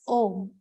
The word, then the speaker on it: Om: The Om is made of three syllables, A, U, and Ma.